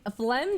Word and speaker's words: phlegm: It's like, phlegm doesn't look like it would be spelt the way it's spelt. Like, I feel like it's just F-L-E-M.